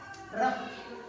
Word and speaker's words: rough: आखिर में है यूजीएच, उच्चारण क्या हो गया, साउंड क्या हो गया, फ, कफ। और देखेंगे रफ, रफ, ROUGH, रफ।